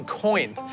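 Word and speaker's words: quoin: of the building but it's called a coin it's spelled with a Q not a c coin is really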